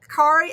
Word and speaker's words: Kari: And so Carrie rhymes with sorry. That's right. That is right. And I knew that, Kari.